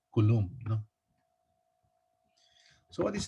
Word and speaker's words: Coulomb: not as coulomb so others would pronounce it as column but there are physicists who will make sound of it as coulomb you know so what